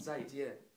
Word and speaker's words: 再见: It's 再见. It means we're gonna meet again. It means 再见.